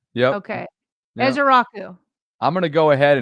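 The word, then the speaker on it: Ezeiruaku: And Donavan, his last name is Ezearuku. Ezearuku. E. It's not E cuz Jason was pronouncing that E.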